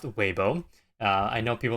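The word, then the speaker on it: Weibo: so webo all right I'm pretty sure it's pronounced waybo uh I know people like to say WBO but it is webo um but WB here is a Chinese uh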